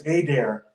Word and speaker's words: Adair: Is that how he pronounces it? Yes, it's Adair.